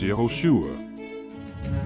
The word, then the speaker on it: Yehoshua: The Greek name for the Messiah in the Septuagint is Jesus, to translate the Hebrew name Joshua, which is actually pronounced as Yehoshua, which is a combination of YHVH and Yasha, meaning YHVH saves.